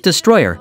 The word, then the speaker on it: Destroller: the unfortunate passing of death roller pronounced Destroyer who collapsed in the